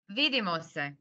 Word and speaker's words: Vidimo se: Vidimo se. Vidimo se. Excellent. Excellent. It's similar to Danish. Starts with we. Yeah. Thank you to everyone. Bye. Good Yes, night. bye-bye. Bye. Bye. Doviđenja. Vidimo se.